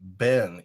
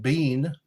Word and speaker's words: been: We say Ben, even though it's spelled bean, B-E-E-N.